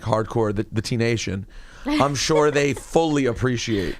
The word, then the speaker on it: Tinashe: nation, regular nation, T-I regular nation, but it's pronounced Tinashe. And why are you going that way? Because it's easier. It's just easier. It makes sense. Yeah, but Tinashe.